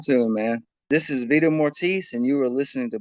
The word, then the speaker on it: Vita Mortis: But anyway, please get out and pick up Vita Mortis. See, I said it that right. I said it right that time.